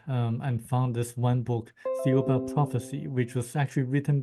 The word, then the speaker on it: Thiaoouba: It's called the Thiaoouba Prophecy, the Golden Thiaoouba.